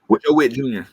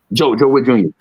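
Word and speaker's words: Joe Whitt Jr.: Joe Witt Jr. Joe Witt Jr.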